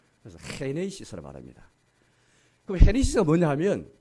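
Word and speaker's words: Γένεσις: 헤네이시스. G를 아주 거친 히읗으로 발음하거든요. 그래서 헤네이시스로 말합니다.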